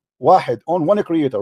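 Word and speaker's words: واحد: Wahad. Wahid, on one creator, right? You do not even know how to say it. It is not wahad, it's wahid.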